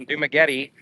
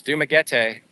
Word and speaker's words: Dumaguete: I wanted to improve it because when you hear the locals and they say Dumaguete, that's the way it's supposed to be said. It's not Dumaguete, it's Dumaguete.